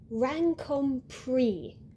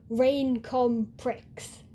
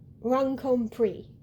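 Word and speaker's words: Raincomprix: We have Sabrina's surname, which has an X at the end, but it doesn't make an X sound. She says Rancome Pre.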